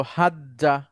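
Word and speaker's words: حَجَّ: মাঝখানের জিমটার উপরে একটা সুকুন দিয়ে দিলাম। তখন উচ্চারণটা হলো হাজ্জা।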